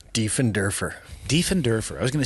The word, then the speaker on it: Diefenderfer: last name Dean derer de and derer I was going to say Defender that's common de and derer defend derer German I was going to